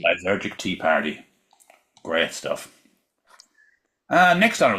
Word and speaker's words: Lysergic Tea Party: Lysergic Tea Party. Lysergic Tea Party.